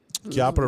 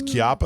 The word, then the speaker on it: Chiappa: Chiappa Rhino. I'm sorry, it's not. It's Chiappa. That's how you say it.